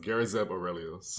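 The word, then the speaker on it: Garazeb Orrelios: His full name is I believe it's pronounced Garazeb Aurelius.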